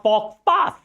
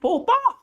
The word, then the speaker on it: faux pas: This is not fox pass. This is faux pas. This is faux pas. Oh, this is faux pas. Not X. X is silent here and S is also silent there.